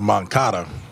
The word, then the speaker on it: Moncada: might get on you though because uh it's pronounced moncada he might not turn around that's what I